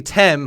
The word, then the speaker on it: Tem: I don't think it's Tim. It's supposed to be Tem, who actually was the god who appeared or existed before anything else.